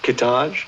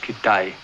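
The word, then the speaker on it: Kitaj: There's Hedgepath, Kittage. No, it's pronounced Kitay.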